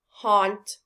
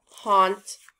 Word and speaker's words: haunt: repeat after me fault haunt cause what sound do we hear in all of these words oh very good we hear the ah sound look at these words